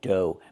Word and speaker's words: dough: Pronunciation, dough. Make the long O like no and go, and the GH is silent.